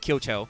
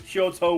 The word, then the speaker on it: Kyoto: They're not all burned down with Kyoto, which by the way is spelled Kyoutou. So long O's.